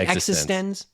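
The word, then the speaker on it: eXistenZ: know that's one like paprika that is actually pronounced incorrectly it's called is it existence yes okay in my defense okay and i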